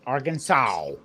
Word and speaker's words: Arkansas: seasonings in there but it's not AR Kansas it's Arkansas all right it's Arkansas